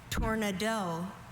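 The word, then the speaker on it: tournedos: Tornado. Tornado. Are there any alternate pronunciations? I have just tornado.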